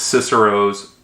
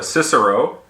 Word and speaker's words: Cicero: that is Marcus Tullius Cicero's On the Good Life. Now, a little bit of background about the author. So Cicero, as we say it in English, in the classical Latin is pronounced Cicero.